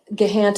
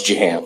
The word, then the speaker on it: Jahan: is admitted Mr Uma gehant and I'm saying your name incorrectly can you pronounce that for me uh it's Jahan Jahan there we go Mr